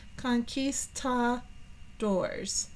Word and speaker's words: conquistadors: And if we were down here, let's pronounce it out. Conquist. This is the one with all of the emphasis. Conquistadors.